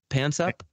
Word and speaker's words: Panksepp: Pansep. Could you spell that real quick?